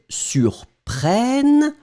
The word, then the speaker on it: surprennent: So it does mean that it will impact the pronunciation of the E that's coming right before, and I will put that, allez, let's be crazy, in yellow. Boom! So it means that this will in fact be pronounced like eh. So, ils surprennent, ils surprennent, elles surprennent.